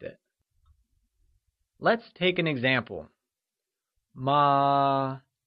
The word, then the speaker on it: mā: Ma means mother, but ma means horse. So, if you don't say the word right, you'd end up calling your mother a horse and land into big trouble.